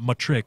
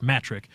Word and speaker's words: Mattrick: on the pronounce pronunciation it's not much trick its matric Don Mattrick came out